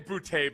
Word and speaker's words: Booty: Um, this is pronounced your name Bouty, by the way, like a man.